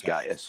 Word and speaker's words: Gaius: It is Gaius.